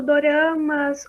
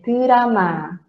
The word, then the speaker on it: drama: Então, quando sai um drama, Não é dorama, é drama. Mais uma vez, todo mundo repetindo. Pode até estar com o microfone desligado. Drama, drama.